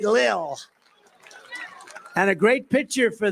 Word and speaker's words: Lil: few rapper Lil pump L pump L Lil I said how do you pronounce that they said Lil and a great pitcher